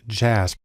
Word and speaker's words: JASP: developed a program called jasb it's actually pronounced jazz which is sort of